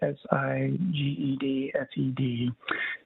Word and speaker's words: SiegedSec: It was posted by a group using the handle SiegedSec, I believe is how you pronounce it, SiegedSec.